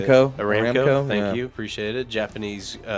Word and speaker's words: Aramco: ARAMCO, thank you, appreciate it.